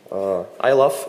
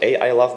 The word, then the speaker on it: iLove: iLove is pronounced just like I love, not A I love, because some people ask me about it.